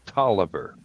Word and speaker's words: Taliaferro: Taliaferro County is spelled Tolliver.